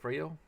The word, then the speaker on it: Freya: This time I'm going to load up my warrior, because my warrior is Freyo, or Freya. It's an A, but it's pronounced O, so Freyo, but yeah, alright.